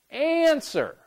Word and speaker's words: answer: Answer. And sir, once again, we have the stress on the first syllable.